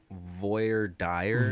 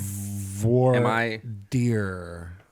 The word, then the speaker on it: Voir Dire: of the week was Voyer Dy V deer am V pronouncing that like an American I would believe I believe that it's V deer V deer yeah you